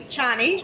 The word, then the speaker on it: Ceani: So you have a company called Ceanii, am I pronouncing? Ceanii. Ceanii.